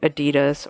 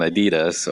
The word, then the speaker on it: Adidas: I was either going to go with the American Adidas or go with Adidas and not say it properly.